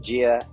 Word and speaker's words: Jia: uh you know funding of uh uh of jail right I I believe that's how you pronounce it here yep pronounce it Gia um I can tell you the story if